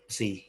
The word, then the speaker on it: psi: Ya tapi tanya kan psikologi ya, jadi P-nya kan kayak voiceless ya, jadi ya namanya kayak C gitu ya. Tapi itu ejaannya PSI, psi.